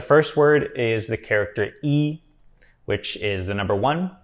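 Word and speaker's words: 一: is the number one when e just represents the Cardinal number number one it just is pronounced with the first tone how it's normally supposed to be pronounced but when it's used to count things or and pretty much any other usage it has tone Sandy so when e is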